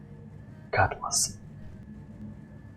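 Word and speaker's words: Cutlass: Дрейк Катлас. Правильно читается. Катлас.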